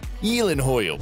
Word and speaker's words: Gyllenhaal: His surname is Swedish, so it's supposed to sound like Gyllenhaal.